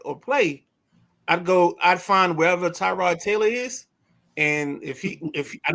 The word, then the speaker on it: Tyrod: And it's Tyrod, not Tyrod. Tyrod.